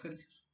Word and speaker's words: Celsius: es el el grado Celsius o grados centígrados como se le dice No mejor dicho es de otra forma correcta es grados celsus y bueno el mol